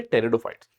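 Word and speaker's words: pteridophytes: इसके अलावा आप थर्ड फाइलम में जब पहुंचोगे टेरिडोफाइट्स। अब टेरिडोफाइट्स से ध्यान रखना है। यहां पे टेरिडोफाइट में पी साइलेंट है तो टेरिडोफाइट से टी याद रखना है।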